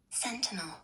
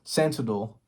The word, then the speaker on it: sentinel: Uh Sentinel. Sentidol.